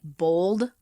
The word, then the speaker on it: bald: And I say bald. This, what we're looking at, says the Americans pronounce bald like bold. Like bold type?